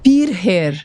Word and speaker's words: Pircher: É um nome austríaco, é da família do meu marido. Ah, Pircher, austríaco. Isso. Que legal, muito bem. Então, Pircher, gente. Eu tinha treinado, mas é realmente a pronúncia, porque escreve com CH, né? A gente no Brasil não tá habituado.